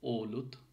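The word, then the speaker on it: olut: সো অলুতে যে ওটা আছে, ওলুত, ওলুত, ও, নর্মাল ও, ঠিক আছে, ওলুত, ও, ওষুধ, ওয়ো, ঠিক আছে, ওলুত, ওষুধ, ওগুলো।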